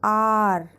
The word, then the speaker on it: hour: consonant, that is H, but H is silent in these words and these are pronounced as are or honest man.